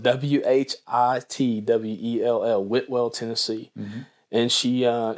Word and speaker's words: Whitwell: into a little town if you're from there called woodwall but it's spelled w h i t w e l l whitwell tennessee and she